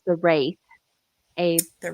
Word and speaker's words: Wraith: It's The Wraith, Abe. the Wraith. Yeah, Wraith. Okay. Great movie, even if I pronounced it wrong.